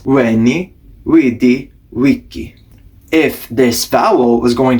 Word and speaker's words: Veni vidi vici: This famous example, Veni Vidi Vici, is not pronounced like that. That is based off of the pronunciation of modern Italian. It would have actually been pronounced like this: Veni Vidi Vici.